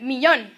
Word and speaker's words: millón: Also notice that millón needs an accent because the stress is on the last syllable, but millones does not need an accent because the stress is where it's supposed to be on the second to last syllable.